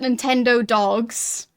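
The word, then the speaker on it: Nintendogs: Crossing I played well I guess he'd pronounce it Nintendo dogs you basically write it nintend dogs because they were being clever um but yeah I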